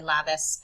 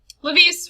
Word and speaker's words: Lebese: I laugh at this one because my friend and we will always have a war over how to say his name. Every time we play Vanguard, he will always say Lapis, and I immediately correct him. Lebese, really, his only thing